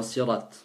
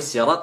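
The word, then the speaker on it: صراط: S'il vous plaît, si dans le Fatiha je prononce sad dans sirat. Oui, c'est validé, oui, il faut.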